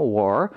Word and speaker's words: war: 포인트는 여러분들 이거 월 아닙니다. 월 아니에요. 이렇게 발음해버리면 이건 L 발음이고요. 이거는 WALL 벽이란 뜻을 갖고 있는 wall이란 단어가 돼요. 그게 아니라 우리가 원하는 발음은 war R 발음인데 R 발음을 이렇게 단어